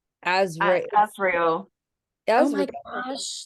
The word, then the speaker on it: Azrael: Azrael.